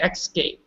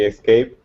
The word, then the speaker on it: escape: there you know I I heard you say xscape good yeah just right no without the X there's no X me gallop maybe escape escape escape Bonnie say